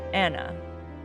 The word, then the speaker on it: Anu: Now, Anu has been sometimes pronounced Anna, and therefore it sounds a whole lot like Anna, Annis, or Agnes, our wicked hag of the Dane Hills.